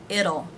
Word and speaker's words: it'll: it will it'll it'll notice the t is pronounced here as a flap t the d sound it'll it'll be okay with